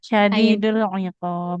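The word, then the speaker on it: شديد العقاب: Jadi bukan hiqab ya, tapi syadidul iqab. Huruf ain.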